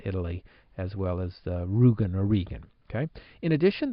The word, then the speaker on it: Rügen: So one of them, I believe, is a region in eastern Germany, the Rügen, I think that's actually pronounced Regen region, and also the country of Italy now has its own map with 3 different versions.